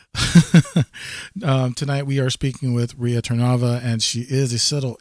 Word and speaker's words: Rea Tarnava: Once again, I just want to welcome back from the break, Rea Tarnava.